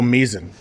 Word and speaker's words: Misen: Yeah, I thought it was m like bison, but it isn't.